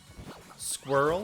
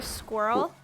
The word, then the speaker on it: squirrel: Yeah, I think over the years we've morphed it into one syllable almost.